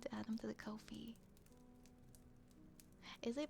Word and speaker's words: Ko-fi: Yes, you need to add them to the Ko-fi. Is it pronounced Ko-fi? I think I've been saying it wrong forever. Is it Ko-fi? I know it's not Ko-fi. It's Ko-fi, Ko-fi, coffee. Ko-fi is like Wi-Fi.